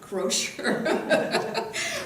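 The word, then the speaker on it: Croushore: Professor Sid Smith is the Mary Fair, how do you pronounce her name? Crozier.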